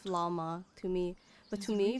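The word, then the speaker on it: Flamme: It seems so weird to me the way they're saying Flam. Like, it sounds like Flama to me.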